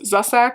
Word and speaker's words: Zusak: Bridge of Clay by Marcus Zusak, I think is how you say his name.